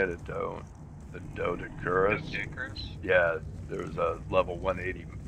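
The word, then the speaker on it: Doedicurus: That's how you say it, a Dodicurus.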